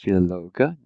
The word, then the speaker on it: Philologe: Notice every letter is pronounced Philologe.